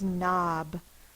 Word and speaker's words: knob: the next word is Knob I need a new door knob knob n a b the first sound is n spell with a k n a is the short